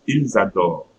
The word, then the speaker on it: ils adorent: So again, ENT, it will be pronounced like French E, so E, and since it's at the end, so I'm not pronouncing the E.